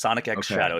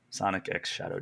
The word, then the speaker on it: Sonic X Shadow: that it is X the x is pronounced Sonic X Shadow it's not cross it's not silent it is Sonic X Shadow gener I don't like